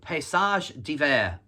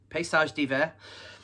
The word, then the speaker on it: Paysage d'Hiver: The band that I'm talking about is, let me get the pronunciation right because they're Swiss, Paysage d'Hiver. Paysage d'Hiver.